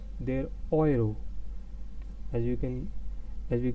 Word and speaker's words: Euro: as you can see it's not euro in english it's oil they're oiro as you can as